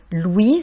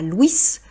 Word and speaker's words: Louis: Vous voyez que c'est important de ne pas prononcer la dernière consonne, le « s ». On dit bien Louis et non pas Louissss parce qu’on pourrait confondre avec Louise au féminin.